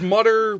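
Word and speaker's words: Mütter: It's Mutter, but the guy added an umlaut over the U. He actually didn't have the umlaut in his real name, but he wanted to look more fancy.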